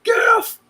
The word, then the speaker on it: GIF: Because Jesse was like, GIF, and I was like, GIF! Well, it's a soft G, even though the creator of it says that it's a hard G.